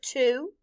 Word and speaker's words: two: In this word, the W is silent and the letter O stands for the long U sound, oo. Blend with me. T-oo. Two.